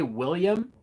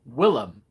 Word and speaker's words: Willem: william the foe willem i always say william but apparently it's willem willem dafoe i just it just sounds weird but it's spelled willem uh norman osborne is